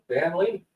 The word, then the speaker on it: Dan Lee: Just look up Dan Lee, which kind of rhymes with Stan Lee.